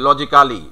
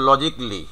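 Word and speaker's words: logically: এই যে লজিক্যালি, মানে যুক্তিগতভাবে, একই সেম জিনিস আমরা উচ্চারণ করি কিন্তু এভাবে, লজিক্যালি, বাট তোমার উচ্চারণটা হচ্ছে লজিকলি। তো এই জিনিসগুলো কিন্তু তুমি নিজেও নিজের উচ্চারণগুলোকে ঠিক করতে পারবো।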